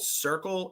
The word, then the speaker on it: Cirkul: I see these, what they're called, Circle. It's spelled Cirkul.